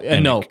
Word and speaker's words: Enoch: It's Enoch. I think Oh, Enoch. Is that how they they pronounce pronounced it?